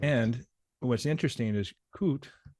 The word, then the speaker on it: COOT: And what's interesting is COOT, do I pronounce that properly? Yes.